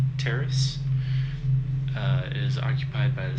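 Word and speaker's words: Taris: It's spelled T-A-R-I-S, Terrace.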